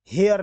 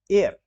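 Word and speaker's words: heir: यू लेकिन इसके बावजूद इसका जो उच्चारण है वो ऐसे होता है हेयर नहीं एयर अ ए से उच्चारण हो रहा है इसीलिए इसमें भी एन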